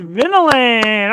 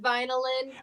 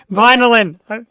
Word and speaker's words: Vynilyn: give it up for tonight's guest it is vinan all right good evening hi we're actually it's pronounced vinyan vinyan thank you it's spelled venin but it's pronounced